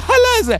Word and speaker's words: halal: It's just halal.